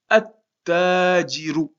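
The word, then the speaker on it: التاجر: Et on va prononcer la suite du mot. Donc ça va donner attajiru. Donc vous voyez, on prononce pas, comme il y a une shadda ici, on prononce pas le lam.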